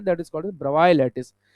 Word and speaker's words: Bravais: एक लैटिस हमारे सिलेबस में है, that is called ब्रवाई lattice. Spelling BRAVAIS है, लेकिन ब्रवाई बोलते हैं।